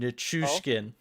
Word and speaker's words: Nichushkin: Thanks, Sean, for the pronunciation help. RJ, I know you'll get a kick out of this. It's Oh, Nichushkin.